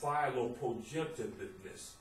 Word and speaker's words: philoprogenitiveness: This 20-letter word is pronounced philoprogenitiveness.